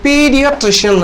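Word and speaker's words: pediatrician: மருத்துவருக்கு என்ன சொல்றது குழந்தைகள் நல்ல மருத்துவருக்கு என்ன சொல்றது பீடியாட்ரிசியன் இதனுடைய பீடியாட்ரிசியன் பீடியாட்ரிசியன் பி இடி ஐஏ ட்ரிஷன் டிஆர்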